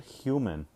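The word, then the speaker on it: Hyouman: is spelled h y-o-u-m-a-n so it's like good h you as in like you're a good person men uh men women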